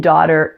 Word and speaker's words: daughter: know in the comments now the tea and daughter is a flap T since it occurs between vowel sounds so the tea sounds like an English D so if we take the first part da and we add that flap T we get Dodd Dodd see my video on